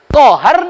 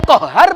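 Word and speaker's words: قهار: qahhar hilang tasbihnya Pak ya qahhar dengan Kohar beda Allah itu Al Asmaul husnanya salah satu nama Allah Al qahhar pakai tasjid indak dibacanya ya qahhar ya qahhar nama seekor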